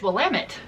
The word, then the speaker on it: Willamette: It's Willamette.